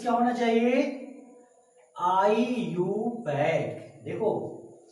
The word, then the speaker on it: IUPAC: तो यहाँ पे पुटअप करते IUPAC, अब सभी लोग इसको क्या बोलेंगे, बोलो, IUPAC, गलत है। इसका प्रोनाउंसिएशन क्या होना चाहिए, आईयूपैक।